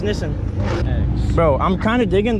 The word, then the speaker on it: Nissan: Nissan right yeah I do it's 280 yeah we've all been saying Nissan wrong it's pronounced innocent yes it is Nissan is pronounced Nissen bro I'm kind of diggin the retro Z